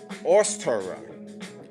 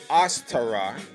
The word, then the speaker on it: Ostara: goddess uh as Tara ostara it's different pronunciations one is OS t-a-r-a and another variation